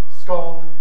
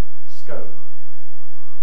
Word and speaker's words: scone: the question of scott we prefer scone two-thirds of us one-third of us like scone the japanese the corn